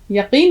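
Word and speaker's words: यक़ीन: हो विश्वास भरोसा हा यकीन उसके लिए और अच्छा लज है यकीन में काफ की आवाज आनी चाहिए कल रात को मुझे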